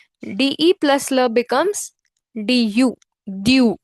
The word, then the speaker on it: du: Due. It is pronounced as due.